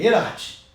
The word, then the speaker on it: Erhardt: hoje convidado caio e pronuncia esse nome em em alemão é iraty é isso aí é